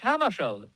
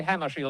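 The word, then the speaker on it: Hammarskjöld: Well, I pronounce it myself in Swedish, Hammershield. But if you say Hammershield, that's all right with me.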